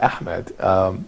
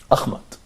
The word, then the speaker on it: Ahmed: I mean, people sometimes, when I say my name, for example, Ahmed, in the U.S., people say Ahmad Yeah. or Ahmad or Ahmad. Sometimes they can't pronounce it, and that's because they